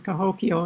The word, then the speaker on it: Cahokia: late 19th century alex if we want to play with the sound of the word we take kehokya sounds kind of like that to me and we have those sounds in hebrew the first syllable k means like and hulk means the law law and yah's god so it's like god's law could be a translation okay that's that's good the actual term cahokia interestingly uh we don't